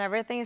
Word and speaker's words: everything: And também corte a pronúncia do G aqui.